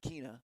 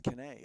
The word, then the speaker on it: Kenae: It's not Kena. It's Kenae. It is Kenae.